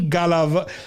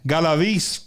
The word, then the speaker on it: Galavis: Rodney Galav. I always say his last name wrong. Galavis, all the way from Arizona.